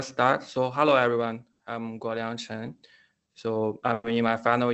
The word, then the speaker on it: Guoliang Chen: We have Guoliang Chen. I'm sorry if I didn't pronounce that in a correct way.